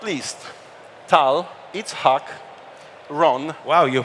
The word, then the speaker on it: Itzhak: Last but not least, Tal Itzhak Ron. Wow, you pronounced it amazing.